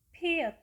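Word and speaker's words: 피읖: Nah, cara melafalkan huruf ini adalah mengeluarkan huruf T, kemudian menambahkan huruf H di belakangnya, sehingga pelafalannya menjadi the, the, the, the. Selanjutnya, konsonan tunggal ke-13, nama hurufnya adalah piet, piet, piet.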